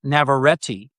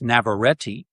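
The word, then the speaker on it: Navarrette: So, the two leads are Michael Johnston, who plays Bear, and Indie Navareti, as I found out her name is pronounced.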